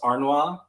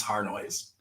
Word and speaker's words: Harnois: In France, it's pronounced Arnois. Harnois. The Anglo version is Harnois.